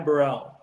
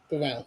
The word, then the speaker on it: Ty Burrell: He's saying Ty Burrell. Burrell.